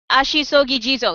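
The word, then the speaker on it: Ashisogi Jizō: Uh, Ashisogi Jizo.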